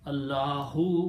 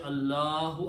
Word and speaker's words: Allahu: But when we stop, we don't pronounce last letters harkat.